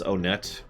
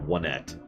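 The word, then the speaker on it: Onett: oh by the way the name of this town is onet I pronounce it that way because that is how it is supposed to be pronounced not wet but in case you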